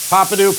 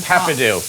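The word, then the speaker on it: Peppadew: We're going to add those papadoo peppers in there. It's pepadoo. Papadoo.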